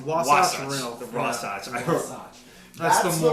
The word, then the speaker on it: Wasatch: It's like Sasquatch. That's not actually close at all.